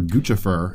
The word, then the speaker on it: Guccifer: Guccifer, or Guccifer, as his name is actually pronounced. Gucci. Yeah, it's Gucci and Lucifer.